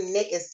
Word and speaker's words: NAICS: So if you go to NAICS, and it's pronounced NAICS, they have a definition on the website that says it rhymes with snakes.